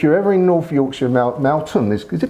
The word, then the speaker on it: Malton: Matt is the distiller here, and what a wonder, if you're ever in North Yorkshire, Malton, is it pronounced Malton? No, Malton.